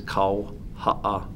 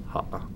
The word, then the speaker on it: Kauha'aha'a: The correct pronunciation is Kauha'aha'a. Kauha'aha'a. Okay. Yeah. And it's, you got to put that pause in your throat, but Kauha'aha'a is my last name. That's as Hawaiian as you can get.